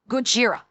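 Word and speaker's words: ゴジラ: Or should I say Gojira? Since that is admittedly a very poor pronunciation of the Japanese version. Gojira. It is Gojira in the original Japanese.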